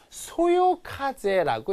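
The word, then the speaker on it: 微風: b에다 현혹되면 안 되고요 밑자는 어떻게 읽어야 되냐면 소요 카제라고 읽어야 됩니다 소요라고 여기서 힘들죠 이런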